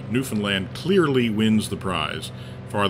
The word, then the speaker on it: Newfoundland: a little bit about place names uh in newfoundland we've just uh just run through a number